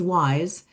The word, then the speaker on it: WIIS: Women in International Security, pronounced WISE, is a non-profit, non-governmental organization dedicated to advancing leadership opportunities in the international peace and security field. WISE supports its mission by bridging research to action,